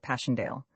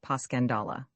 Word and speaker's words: Passchendaele: Marchant, it was so strange to hear you call it Passchendaele. Why, if I may ask? Because that's the way I pronounce it to myself, but I looked it up and it's more like Paschandala.